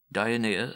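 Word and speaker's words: Dionea: found to contain only the name dionya dianea as they pronounce it here the question was could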